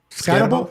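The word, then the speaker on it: Skattebo: How do you pronounce that? Deebo. Scatebo.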